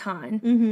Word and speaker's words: HONNE: I was like, well, I'm not sure, so we looked it up, and it's pronounced Han.